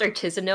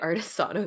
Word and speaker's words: artisanal: Is it pronounced artisanal? I've been pronouncing it artisano this whole time.